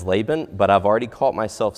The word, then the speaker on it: Laban: congregation in Alabama and the way that I learned to pronounce laan was actually lean so I'm going to do my best to pronounce it as Laban but I've already caught